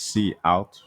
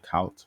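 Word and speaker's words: cout: we will add um so this is actually pronounced C out from what I've uh seen or heard it'd be pronounced I tend to say count but um it's like C out and it's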